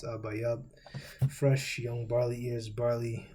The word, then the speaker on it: Abib: Now, we should already know that Abib is not the proper pronunciation. This is the Yiddish pronunciation. But if you would break it down, the Paleo-Hebrew pronunciation, the real Hebrew, because Yiddish didn't come about to the 10th century, you get Abayab. So, Abayab.